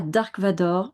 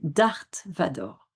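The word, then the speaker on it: Darth Vader: Eh bien, en fait, ce n'est pas Dark Vador, c'est Darth Vador.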